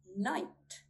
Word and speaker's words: knight: We do not sound out the letter K when it comes before an N at the beginning of a word. Here's some examples. Need, need. Knife, knife. Night, night.